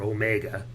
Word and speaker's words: Omega: If you can see this is the Omega that he wore, or Omega. Omega is the way they pronounce it in Britain, and it sounds sort of affected to me.